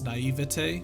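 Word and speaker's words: naïveté: straight up murder both of the pronunciations you said are wrong it's naivete naive ete naivete this hate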